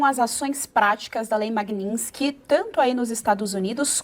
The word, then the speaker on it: Magnitsky: Então a nossa primeira pergunta é: Como é a pronúncia correta do nome da lei, Dr. Ricardo? É, a lei se chama Magninski.